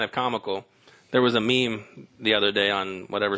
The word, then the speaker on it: meme: said multiple times it was meant to be pronounced as meme.